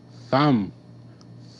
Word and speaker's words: thumb: thumb up thumb down thumb B is silent B makes no sound th th ah th